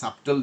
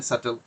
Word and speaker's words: subtle: এটা এখন সাবটেল যদি বলে আপনার কাছে সহজ লাগে, কিন্তু এটা প্রনাউন্সিয়েশন যে সাটেল, এটা যে বিটা সাইলেন্ট।